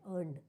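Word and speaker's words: earned: अर्नड मतलब अर्न का ये जो आर है वो साइलेंट होता है। अर्न बोलते हैं। अर्नड ठीक है?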